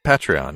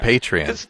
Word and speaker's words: Patreon: That pronunciation actually drives people crazy for some reason. Patreon, yeah. Is it? As opposed to Patreon. Yeah, they're patrons.